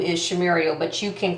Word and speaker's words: Shumuriel: How do you, people like Shumuriel, nope, Shumuriel. It's like Muriel.